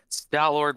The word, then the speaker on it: Stallord: Am I saying it right? Stallord? Stallord works fine.